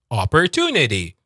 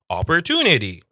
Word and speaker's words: opportunity: 5 syllable sounds. Opportunity. Tunity is British. Opportunity. It's the whole D sound again. Opportunity, but it's a very like low D. It's not like a strong D.